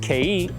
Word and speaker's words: kei: Are you still calling those Japanese mini trucks K trucks, like the letter K? Well, now you know it's actually pronounced Kei, and it's spelled like this.